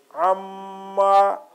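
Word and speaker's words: أمّا: So, amma. That's why, because the gunna means the sound will be nasal sound through, and meem is mushaddad. There is shad on meem, and that word will be pronounced twice.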